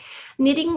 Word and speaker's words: knitting: you got that one knitting we have to remember that there's a silent k in front of knitting i'm not sure if